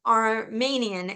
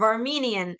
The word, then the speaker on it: Armenian: Like Iran, like Armanian instead of Armenian.